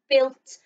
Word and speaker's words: built: is the word built so it's as if that u is a silent letter joined onto the eye to make built like we've built something